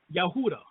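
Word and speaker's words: יהודה: the word Judaism or Judah within Hebrew is pronounced yahuda now or yahudi now the ancient ktic name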